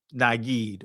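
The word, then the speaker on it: נגד: Uh but anyway this this right here will be um pronounced with a e. So it'll be um naged.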